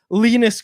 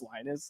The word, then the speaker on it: Linus: Patrick was just like yeah lonus it's just lonus and so now it's